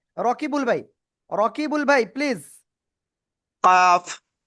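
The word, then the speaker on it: كاف: এই যে অক্ষরটা চার আলিফট নিয়ে অক্ষরটা উচ্চারণ করতে হবে। কাফ এইযে জিব্বার গোড়া গোড়া থেকে একটু আগে বাড়াবো। বাড়িয়ে আমরা চার আলিফটা নিয়ে অক্ষরটা উচ্চারণ করব। কাফ সবাই একসাথে জোরে জোরে পড়েন।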